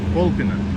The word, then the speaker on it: Kolpino: Kolpina, да. No, Kolpina. Нет, как? Kolpina. Вот. Man, it's hard to pronounce to make the right.